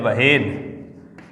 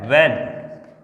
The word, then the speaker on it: when: इसको पढ़ रहा है व्हेन, यानी इसमें H को साइलेंट कर रहा है, ये व्हेन नहीं है। इसको कई स्टूडेंट हैं वो ऐसे पढ़ते हैं, जैसे WHEN, इसको ऐसे पढ़ते हैं व्हेन, तो ये गलत हो जाएगा।